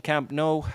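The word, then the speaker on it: Camp Nou: If you take the name of the stadium, it's proper pronunciation. Camp No.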